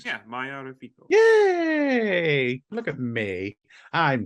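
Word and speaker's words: Maia Reficco: Yeah, Maya Rafiko.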